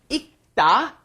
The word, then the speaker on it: 읽다: 읽다 is the pronunciation for the word reading, right? 읽다, because when it is followed by a consonant, then you must not pronounce it fully. You don't bring up the L sound, so it becomes 읽다